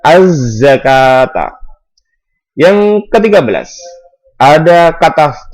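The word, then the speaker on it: الزكاة: Za di sini adalah huruf syamsi. Asy-syamsiyah bisa dikatakan idgham syamsi. Cara membacanya dimasukkan az-zakata.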